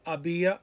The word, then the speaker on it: había: Remember, all of these, the H is silent. Hubo, había, habrá, haber, habido.